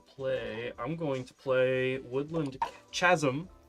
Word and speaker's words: Woodland Chasm: I'm going to play Woodland Chasm.